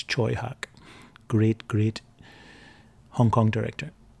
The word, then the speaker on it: Tsui Hark: this guy Troy Hawk that's how you pronounce his name it looks like Tsui Hark but it's Choi hawk great great Hong Kong